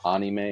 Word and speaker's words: anime: um which yeah again so anime the correct pronunciation is a anime because it's the a sound but Ane yeah